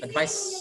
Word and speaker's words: advice: Nah, kalau SE ini bacanya tebal pakai Z, advise. Kalau advice pakai C itu tipis, advice.